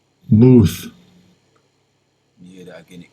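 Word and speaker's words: מוּת: Muth. Muth.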